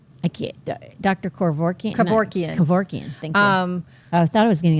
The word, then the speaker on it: Kevorkian: Kevorkian. Kevorkian. Thank you. I thought I was getting the last name wrong, but No, you got it right.